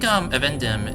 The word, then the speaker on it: Evendim: I'm just realizing I've pronounced everything wrong this entire time. I think Evendim is the actual pronunciation.